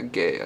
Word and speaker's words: Guay: I've been mispronouncing her name. It's Rebecca Guay, I think, is how you pronounce her last name.